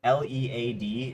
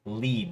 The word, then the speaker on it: lead: Um, Also, uh could you add in the pronunciation like dos and don'ts, uh lead like l e a d is always going to be s um said out loud as lead like le e d like lead.